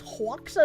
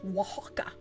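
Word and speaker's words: Oaxaca: Haka is pronounced wajaka.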